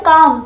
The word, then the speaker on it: calm: ये अब ये जो मैं प्रोनाउंस कर रही हूँ काम, ठीक है. सो इसका जो स्पेलिंग होती है वो CALM होती है, ना कि CAM.